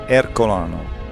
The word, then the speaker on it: Ercolano: In Italian, Ercolano. Ercolano. What do Americans call it, or English? Yeah, Herculaneum. Herculaneum.